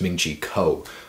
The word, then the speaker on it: Ming-Chi Kuo: about the iphone 7 a man pronounce his name wrong again it's ming-chi kuo alright so very first thing he's saying about